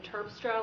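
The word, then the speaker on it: Terpstra: It's Turstra. Last name is spelled T E R P S T R A.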